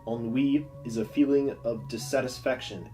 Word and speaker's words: ennui: drollery ennui boredom Tetum note the pronunciation ennui is from the French and keeps its French pronunciation unweave is a feeling of